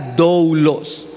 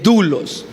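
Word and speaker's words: δοῦλος: Pero resulta que la palabra utilizada para siervo es la palabra griega doulos. Se lee doulos, se escribe doulos.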